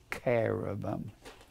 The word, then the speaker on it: cherubim: Now, I've established that Wherever you find the cherubam or the carobum, pronounced K like a C H E R A B I pronounced carabum like a hard Kh a verse 10 then I'll back up.